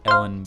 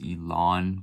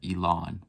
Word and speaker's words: Ellen: now, and that is Ellen Bia. So I just found out that it's actually pronounced Elon Bia, like Elon Musk. So yeah, Elon Bia, sorry about that.